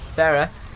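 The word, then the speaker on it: Pharah: I'm going to say Farah, okay? That's how we're pronouncing it.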